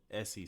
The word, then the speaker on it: Essi: in my promo for the video I said Essie sings, but I want to make sure is that the right way to pronounce it or yes.